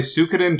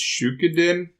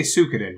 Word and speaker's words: Suikoden: So I have been continuing to play Suikoden 2, which I believe friend of the show Jake pronounces Shukiden. I thought it was Shidoken? You say Suikoden, don't you, Nick? Yes, I do.